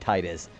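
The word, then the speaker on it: Tidus: Uh um I guess Tetus is supposed to be the actual pronunciation because that's what Didia goes up, but I've always said Titus because Titus like it sounds like Tide and there's like a very big water motif with with him.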